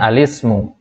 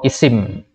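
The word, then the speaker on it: الاسم: Arab ada tiga macam yang pertama alismu ya bacanya alismu atau Isim Kemudian yang kedua alfi'lu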